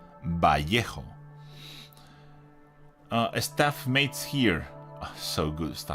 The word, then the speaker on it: Vallejo: That's how you say it. Vallejo. That's the name in Spanish and how it is correctly pronounced. I will repeat it once more. Vallejo.